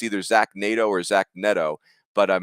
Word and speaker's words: Neto: I got to look up how to pronounce his name. It's either Zach Nato or Zach Neto. But it's Neto, and he's a two-way player.